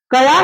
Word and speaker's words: क्या: आप लोग, अब बताइए क्या लिखे, क्या, कया नहीं हम बोल रहे हैं, क का उच्चारण पूरा नहीं कर रहे हैं, कया नहीं बोल रहे हैं, क्या।